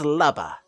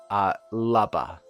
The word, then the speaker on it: Lubba: The name's Lubba. Now, I pronounced it Lubba, but it could be Luba, or because Luma. Unless it's actually supposed to be. Anyways, I will be pronouncing it Lubba. L-U-B-B-A.